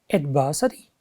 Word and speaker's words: adversity: has four syllables and where does this stress fall look at here it falls on the second syllable about next word can